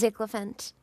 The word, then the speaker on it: Ziglant: No, it's very easy to pronounce my name. It's It's just Ziglant. Okay. Zlant.